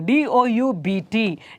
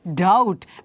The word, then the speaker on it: doubt: for example d-u-o sorry d o u b t doubt B is silent d-o-u-t Allah doubt spelling d-o-u-b-t but B is silent there similarly d e b